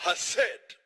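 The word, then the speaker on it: חסד: Tem que pronunciar com som gutural. Hased.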